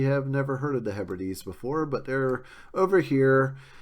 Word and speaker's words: Hebrides: And please pronounce it Hebrides. Don't say Hebrides, as some people do. That's like pronouncing hyperbole as hyperbole.